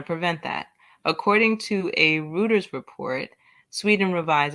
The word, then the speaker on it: Reuters: providing the treatment um thank you pronounce reuter Reuters nice because I was butchering it and then I knew it was wrong but it was like